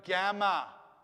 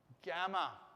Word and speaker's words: gamma: and then we've got gamma gamma and gamma is like the g in an english alphabet right makes the same